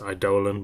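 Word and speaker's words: Eidolon: missing here yeah the idolon is pretty good I think it's actually supposed to be pronounced idolan but whatever um sword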